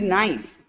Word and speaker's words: knife: Next is knife. So in all these three words, K letter is silent.